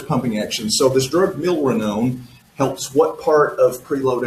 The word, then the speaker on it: milrinone: I don't know how to pronounce it. Is it Milrinone? Milrinone. Yes, Milrinone.